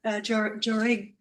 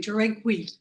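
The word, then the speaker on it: Jáuregui: And last but not least, Liliana Joreg, I'm mispronouncing, Joregui.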